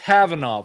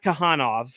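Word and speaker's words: Khavanov: It's pronounced Havanov. Okay. Yeah, Sasha Havanov, not Kahanov. Like I pronounce it Kavanov.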